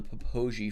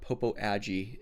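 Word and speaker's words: Popo Agie: And this is a new dinosaur from the Poi Formation because apparently that is how you say that. It's not Popo AI, it's Poi.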